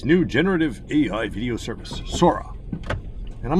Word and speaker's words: Sora: Everybody says Sora. OpenAI's new generative AI video service, Sora. And I'm like, no, it's obvious that it came from the Japanese word Sora, which means sky.